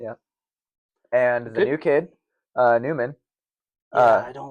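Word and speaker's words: Nyman: It's N-Y-M-A-N. Let's sing the kid's praises instead of talk him down. You think it would be Neiman.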